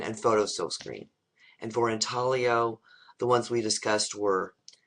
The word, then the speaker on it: intaglio: The 3 different categories for printmaking: relief, planography, and intaglio, or intaglio is the way it looks like it's spelled.